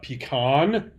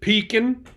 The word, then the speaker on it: pecan: They have a pecan if you're from the Northeast, or if you speak fluent hillbilly gibberish, you'd pronounce it pecan.